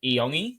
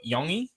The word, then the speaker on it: Iongi: I've just recently heard that the pronunciation of his name is Iongi or Yongi.